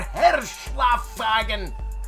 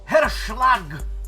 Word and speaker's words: Herschlag: of glory to our hershla fagon oh my god i ruined that herschlag finale i said it right also he's playing